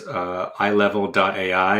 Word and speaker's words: Eyelevel: Well, the company's website is Eyelevel.ai, and Eyelevel is like your eyeballs, so it's EYE level.